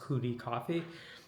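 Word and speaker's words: 库迪咖啡: It's called Cotti Coffee but in Mandarin I think it's pronounced Kudi Coffee or or something like that.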